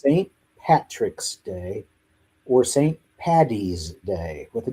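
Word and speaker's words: Paddy's Day: Patty's Day with a D. Okay? Because his name in Gaelic is Patrick. If you call it Patty's Day or St.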